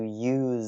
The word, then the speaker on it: use: is uh the distinction between the verb to use Z with a z sound and the noun